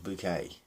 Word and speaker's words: Bucket: girl in it, and she used to refer to herself as Mrs. Bouquet, right? Now, the spelling of her name was Bucket, right?